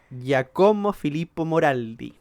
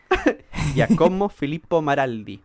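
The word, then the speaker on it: Giacomo Filippo Maraldi: de las pronunciaciones de nuevo que se llamaba jacomo filipo moraldi yo creo que t pronunciación está mejorando jacomo filipo maraldi ahí sí que fue quien propuso que esta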